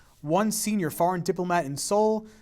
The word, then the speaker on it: Seoul: A consensus in Seoul, maybe you know the Kia Soul, that little car. Okay, it's named after the capital of South Korea, which is spelled a little bit differently.